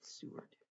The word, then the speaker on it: Seward: I'm saying it right, Seward.